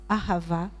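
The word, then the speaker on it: אהבה: joli mot en hébreu il se pronce Ahava c'est joli hein Ahava ça si les produits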